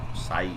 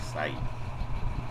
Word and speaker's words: psi: साई। साई। Okay, P silent रहता है।